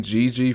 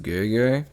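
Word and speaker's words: Gege: so pause right quick I pronounced this name GG for this whole video but it's actually pronounced gay uh yeah sorry big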